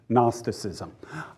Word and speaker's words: Gnosticism: That's spelled G-N, Gnosticism. It comes from the Greek word gnosis, and in Greek the G is pronounced.